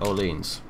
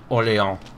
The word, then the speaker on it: Orléans: Attack Orleans. Orléans, I should say. Because that is the correct French pronunciation.